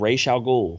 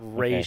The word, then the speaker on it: Ra's al Ghul: It's Ra's al Ghul. It's not Raish. Okay. It's not Rash.